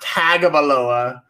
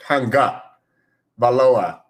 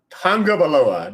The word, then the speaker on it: Tagovailoa: It's not Tagovailoa. It's not Tagovailoa. It's Tonga, like Tongan, but Tonga Valoa. Y'all got this? Tagovailoa.